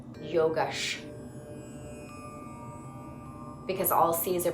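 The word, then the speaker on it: योगश्: Yogash. Yogash. Because all C's are pronounced ch.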